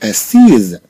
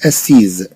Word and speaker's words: assis: ما نقولوش أسيز لأننا تنتكلموا على مذكر.